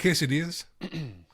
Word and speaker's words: quesadilla: So, if there's a double L, it's it's pronounced with a Y.